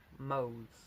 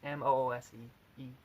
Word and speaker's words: Moose: And it was called Bull Mose. I mispronounced the last word. It's Moose.